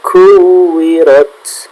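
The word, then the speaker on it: كُوِّرَتْ: Pembacaan kaf, pelafalan kaf itu bukan sekedar ka, tapi ka. Jadi bacanya yang tepat seperti ini. Kuwirat.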